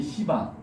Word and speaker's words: 시바: 그다음에 파괴의 신은 이제 시바. 발음을 세게 하시면 안 돼요.